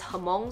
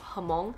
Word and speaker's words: Hmong: I was saying Hmong the whole time, but she herself says Hmong, so I'll just go with her pronunciation of Hmong.